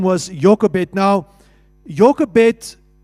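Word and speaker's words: Jochebed: And so Moses's mother's name was Jokebet. Now Jokebet in the Hebrew language is actually pronounced as Yokevet. That's the right way to say it. Yokovet.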